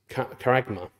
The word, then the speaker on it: charagma: uh is Mark it says uh is is charagma kma that's how you pronounce that's pronunciation at the bottom there um